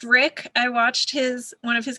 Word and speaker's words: Rik: And it is pronounced Rick.